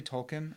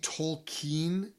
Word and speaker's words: Tolkien: do you pronounce that you say Tolkien or do you see I see tokine talking but that's because I want to sound fancy talking talking yeah I